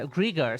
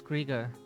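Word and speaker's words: Greagor: the hymns of grear uh Greger sorry it's Gregor and thus did Gregor summon together her two and 70 spirits of light at least they pronounced it griga earlier and tell them of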